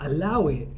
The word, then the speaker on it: allow it: Now, allow it, you actually pronounce it without the A, so you just say Allow it.